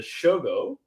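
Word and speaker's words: しょ: So to change this pronunciation into the shogo that we always say, you make this yo smaller. And then this is read together. Sho. This change into S-H-O.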